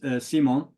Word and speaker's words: Simon: Maybe we pronounce it in English as Simon, but in France it's Simon, and in Kurdish as well.